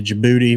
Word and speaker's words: Djibouti: Jeff Warner said I'm taking my Take Warrior fishing jersey to Djibouti with me to wear. What? Djibouti. Why is there a D in it, though? Isn't it Djibouti? The D is silent.